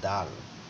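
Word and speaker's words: دال: হা খ এটা হচ্ছে দাল কখনো একটু উপরেও তুলে দেওয়া হয় কিভাবে দাল এটার উচ্চারণ দ এর মতো তারপর তারপর এটা হচ্ছে দাল।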